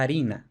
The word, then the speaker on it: farina: principio de palabra realmente no se pronunciaba una f sino una h entonces por ejemplo el latín farina lo normal es que en la edad media se escribiera también con efe pero que se pronunciara la harina con la aspiración y por supuesto he